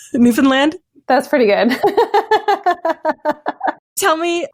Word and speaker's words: Newfoundland: By the way, did I pronounce that right? Newfoundland?